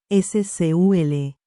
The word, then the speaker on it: SQL: SQL, que se pronuncia comúnmente SCUL, es el lenguaje con